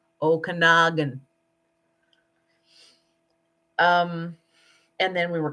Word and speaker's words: Okanagan: with our friends and it's pronounced okanagan i've several people on american tv shows have called it okanagan ah no okanagan um and then we